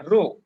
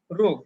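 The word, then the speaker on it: ρ: ঘনত্বকে রো দিয়ে প্রকাশ করা হয়, পি না, রো। এর উচ্চারণ হচ্ছে রো, গ্রিক লেটার।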